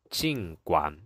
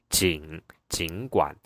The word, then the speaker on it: 尽管: So we tend to say 尽管, but it's wrong because according to the dictionary, because dictionary is like more official, authoritative. So it says it should be the third tone. The pronunciation correct one should be 尽管, 尽管. So because there are two third tones in a row, you have to change the first one to second tone, which makes it become 尽管, 尽管. So 尽管 is the correct pronunciation.